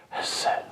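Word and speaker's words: חסד: And it's pronounced not phonetically like we would say in the West, Hesed, Hesed. But it is literally pronounced this way, Hesed. You see, you could barely hear me say, that's it.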